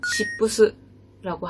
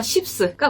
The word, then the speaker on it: SHIPS: 발음주의. 쉽스. SHIPS. 일본어 발음으로 시부스라고 하고요. 여기도 앞서 말한 두 회사와 마찬가지로 주식회사 쉽스가 운영하는 동명 브랜드고 이제 여기 같은 경우는 1977년에 긴자에 1호점을 오픈했습니다.